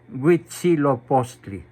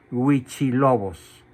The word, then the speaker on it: Huitzilopochtli: historia de la humanidad, Huitzilopochtli, a quien los españoles denominaron con el nombre de Huichilobos, por no pronunciar bien la palabra Huitzilopochtli. Entonces, la historia oficial dice